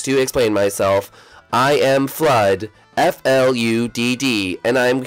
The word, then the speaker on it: FLUDD: yes and is it it's flood oh yeah I don't know why I spell it flu then it is flood all right whatever welcome